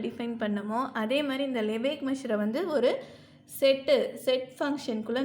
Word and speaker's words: Lebesgue: இதை வந்து லெபேக் மெஷர்ன்னு தான் ப்ரொனவுன்ஸ் பண்ணணும். இதில் வந்து எஸ்கியூ அதெல்லாம் வந்து சைலண்ட்டு.